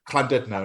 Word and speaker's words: Llandudno: Oh my God, I'm not going to try and pronounce it. It's not L. It's what? Lulu-Andu?